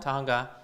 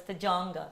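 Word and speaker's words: Tujunga: most people will actually like pronounce it as Tajanga.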